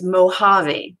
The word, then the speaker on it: Mojave: And it doesn't sound like it looks, does it? But it's Mojave, that's how it's pronounced.